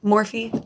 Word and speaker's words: Morphe: Morphe. I don't know how to pronounce it. It's Morph. So fuck you if you think it's Morphe.